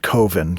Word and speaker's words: Coven: made this short horror film called Coven, but he pronounces it Coven, cuz he doesn't like that Coven sounds like oven.